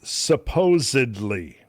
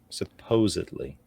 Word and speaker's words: supposedly: So there's a word that Randall hates it when people insert a B into this word. Yes. The word is supposedly. Supposedly.